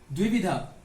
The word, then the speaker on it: द्विविधा: कई बार हम इसको दुविधा लिखते हैं, दुविधा। तो ये उच्चारण में दुविधा कहलाते हैं, लेकिन दुविधा नहीं होता है, शुद्ध क्या होगा? द्विविधा।